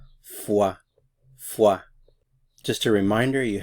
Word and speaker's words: froid: Notice the pronunciation, froid, froid. Avoid the temptation to pronounce phonetically, froid, froid.